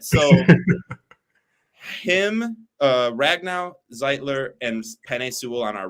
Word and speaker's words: Zeitler: idea of ragn now zeitler is it zeitler or zeeter because I've been saying zeiter this whole time zeitler is zeitler because I got kind of roasted in the comments for the way I pronounced his name zler I okay oh